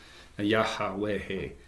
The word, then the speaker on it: Yahweh: German, we hear, and it's in the Hebrew it's YHWH. So we didn't use vowels. So Yahweh is how it would be pronounced, and literally it means I am that I am.